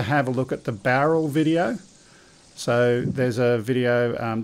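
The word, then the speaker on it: Bowral: want to spell that, Greg, Barrel, because it's not barrel. Yeah, B-O-W-R-A-L. Yeah, B-O-W-R-A-L, Barrel. Yeah, so that's next week.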